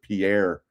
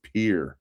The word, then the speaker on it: Pierre: I always thought they pronounce it Pierre, South Dakota. It's Pierre is how they pronounce it.